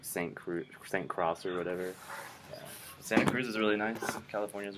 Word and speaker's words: Santa Cruz: University of California, Santa Cruz.